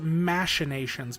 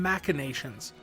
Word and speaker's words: machinations: I've never heard it pronounced machinations before. It's always been machinations. I've never heard it with the soft CH sound like that.